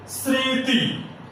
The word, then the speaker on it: স্মৃতি: যেমন স্মৃতি একটি শব্দ, এই শব্দের শুরুতে মফলা আছে কিন্তু ময়ের উচ্চারণ হবে না, আনুনাসিক হবে।